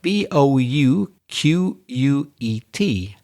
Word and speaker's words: bouquet: Normally we would pronounce tea at the end of a word in English, but because it's French, we pronounce it bouquet.